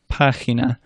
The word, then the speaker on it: página: A soft G is like a Spanish J, which we said earlier is like an English H, so that h sound. That's when it's followed by a weak vowel, E or I, as in je or he.